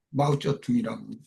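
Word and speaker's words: 毛泽东: 마오쩌둥이라고 중국 발음으로 그렇게 말해요.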